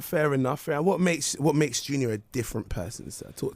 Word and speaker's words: Jxnior: His name is Jxnior, but spelled with an X instead of the U.